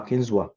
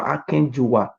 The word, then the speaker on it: Akenzua: It's not Oba Akenzua. Baba. I am not telling you the meaning of Oba names. It's not a shame to you people. Meaning of Oba Akenzua, the real pronunciation and the meaning is not Oba Akenzua, it's Oba Akenjuwa.